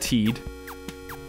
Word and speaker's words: Tide: Tide, stay Tide. No, pronounce it Teed.